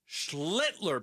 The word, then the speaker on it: Schlittler: They got the win, and that sets them up really nice today with Schlittler pitching.